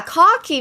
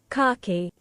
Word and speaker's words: khaki: Khaki. Cocky. It literally sounds like Harkey if I was from Boston. Boston. Cocky. The British pronunciation makes so much more sense to me.